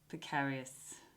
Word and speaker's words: precarious: Frog breath, steam tent, neck paralysis, frog breath, steam tent, scared precarious, only in like Australian and British English would precarious rhyme with paralysis, precarious, whatever.